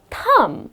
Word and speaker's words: thumb: correct pronunciation is thumb the letter b is silent and then the last